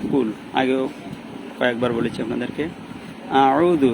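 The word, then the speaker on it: أَعُوذُ: আউযু এখানে আ গলার মাঝখান থেকে আ এরকম উচ্চারণ হবে, আর উ এটা আইন, এটা গলার মাঝখান থেকে চাপাই উচ্চারণ হবে। কুল আউযু, আয় কোনো টান নাই।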